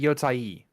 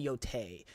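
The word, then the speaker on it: Yōtei: ghost of Y um yeah or is it yoai I mean the correct pronunciation is yoai but no one call calls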